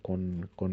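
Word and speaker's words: כה: que ver con la con el con un nombre divino, con con así hablan los profetas, co amarashem, así ellos utilizaban la palabra co, que co se escribe kaf hei, así hablaban los profetas.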